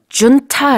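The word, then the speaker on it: junta: 정보를 요 그래서 매출이 콘 차 라고 했는데요 훈 타라고 할 수도 있구요 중 차 라고 발음할 수도 있어요 jintae 이렇게 씁니다 그리고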